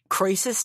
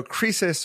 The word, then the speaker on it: Croesus: I hope I pronounce this right, which is, what would Croesus do? Is it Croesus? What would Croesus do? Exactly. Croesus, yeah.